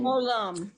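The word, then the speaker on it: עולם: Okay, that's an ayin. Olam. It's like the old rabbit ears. Yeah. It's an ayin. So ayin is silent.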